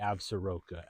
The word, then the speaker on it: Absaroka: to the north up here we have the abura mountains some say absaroka as well so if we think again that